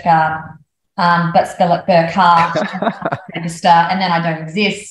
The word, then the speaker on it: Burchgart: in front of me and Burkhart is the way you actually pronounce my surname okay um birchgart is how it sounds or is spelled and that is um